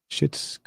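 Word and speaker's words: Schitt's: you wat did you watch it it's called shit's creek can i say that no you can't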